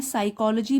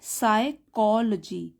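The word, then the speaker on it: psychology: शी is studying साइकोलॉजी, तो देखिए ये भी जो है साइकोलॉजी, पी साइलेंट है, सब्जेक्ट का नाम है ये, मनोविज्ञान, तो ये हो गया पी साइलेंट। हम कैसे पढ़ेंगे, साइकोलॉजी, साइकोलॉजी।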